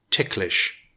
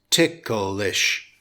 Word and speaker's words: ticklish: In British English with two syllables it's pronounced tik-lish but in American English it has three syllables - tik-ul-ish it's pronounced tik-ul-ish Here's